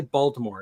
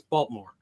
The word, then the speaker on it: Baltimore: You don't say Baltimore; it's Baltimore.